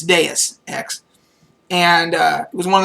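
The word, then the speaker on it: Deus Ex: this game d and he called it dose X because and I think I did too we didn't know how to say it at first and but it's deis X and uh it was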